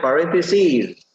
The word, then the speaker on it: parentheses: verbs in parentheses or parentheses is plural you can say pronounce it parentheses if it is singular like s i s you can say parenthesis in here is plural not just one par pareses but many parentheses pronounced like parentheses use the simple past